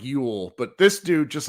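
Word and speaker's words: Llull: that Sergio Sergio you it's pronounced like Ule but this dude just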